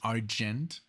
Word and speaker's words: Argent: I was going to say Argent, but it's Argent.